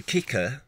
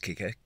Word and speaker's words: Kikr: here is called the kicker i think it's pronounced kicker kikr s1 stand and